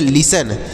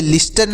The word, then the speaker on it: listen: क्योंकि यहाँ पर यह टी जो लिखा गया है इसका उच्चारण नहीं करेंगे, यह साइलेंट है। और ई से ए की मात्रा और यन से न, तो यह हो गया लिसन। LISTEN, इसे लिस्टन नहीं पढ़ेंगे सर, ऐसे लिसन पढ़ेंगे। यहाँ पर टी साइलेंट है।